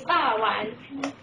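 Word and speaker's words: 肉圓: Its pronunciation is ba wan.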